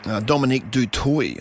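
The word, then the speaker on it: Dominique du Toit: Bien Tarita, Dominique Dutoy, I hear, is the pronunciation of that name, and Soraya Paki, some of the women's sevens players.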